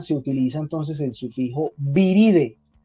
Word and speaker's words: viridae: Y normalmente para mencionar la familia se utiliza entonces el sufijo viride. Se escribe viridae, se lee viride, mire que la A no suena, viride.